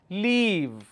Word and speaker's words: leave: la e ma leave if I mispronounced and make it short vowel sound instead of e I say e so I will end up pronouncing this as live instead of leave I will say live and live is a different word altogether Aleve is different